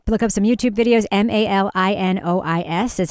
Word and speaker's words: Malinois: So you're telling me a Malinois German Shepherd isn't freaking the hell out and